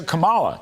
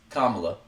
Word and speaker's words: Kamala: So the Fed's 50 basis points gift to Kamala. That's the subject of the riff. All right. First off, it's Kamala. Not Kamala.